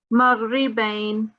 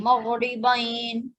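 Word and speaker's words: مغربين: This is the verse that, I don't know, some students, they just pronounce the ra's incorrectly, but we've got lots of them here.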